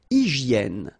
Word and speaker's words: hygiène: Une hygiène. So remember, we've got this Y here, vowel, and it's pronounced like E. E, okay? Hygiène. H doesn't exist, H doesn't exist in French, so hygiène.